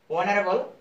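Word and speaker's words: honorable: অনারেবল, অনারেবলের এইচ এর উচ্চারণ আসতেছে না, উচ্চারণ না সাইলেন্ট থাকার কারণে এখানে এন হবে।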